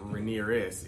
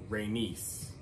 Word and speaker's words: Rhaenys: The other lady's name is not Rhaenyris, it's Rhaenys. But spelled like Rhaenyris, but it's Rhaenys, right?